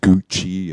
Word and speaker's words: Gucci: So if you see an Italian word with C, usually it will pronounce it as ch. Yeah, like the fashion brands Gucci and Fiorucci.